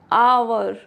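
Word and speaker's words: hour: Honest ऑनर आवर air clear ये rule number seven है।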